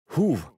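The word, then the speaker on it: הוא: Das Wort „wer“ wird im Hebräischen „huw“ ausgesprochen, ganz ähnlich wie das englische Wort für „wer“, who.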